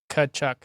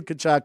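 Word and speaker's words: Tkachuk: the name Keith Keith kachuck the t is don't pronounce the T okay thank you Matthew kachuck h and then I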